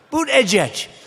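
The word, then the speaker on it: Buttigieg: edge booed edge edge they said think of it as boot and then edge edge because nobody can pronounce this guy's name oh but boot edge edge they say boo dead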